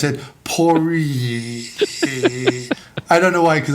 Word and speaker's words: Poirier: more the French way, Poirier, and then I call it Poirier, just like because our family's just kind of anglicized it.